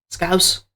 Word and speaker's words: Scouse: Scouse.